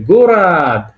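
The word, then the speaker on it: город: ও এর ওদে গেও গো আর ও দে গোরাদ লাস্টের এই এটার উচ্চারণ হবে এর মত তাহলে এটা আমরা বলব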